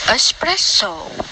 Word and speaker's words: espresso: clothes especially escape espresso for some reason many people put an x sound into these words this is we spell it especially a skip espresso the 12th example is